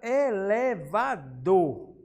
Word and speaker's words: elevador: Depois, finalizamos agora com a palavra elevador. O dor, ele é com maior intensidade.